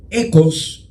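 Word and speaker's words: οἶκος: Como en el griego históricamente ha habido variaciones en su pronunciación, de la palabra oikos también se ha llegado a pronunciar como ecos, y de ahí vienen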